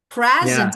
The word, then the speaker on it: present: So the as you as you can say and you can hear the stress in noun is on the first syllable for the verb on the second syllable.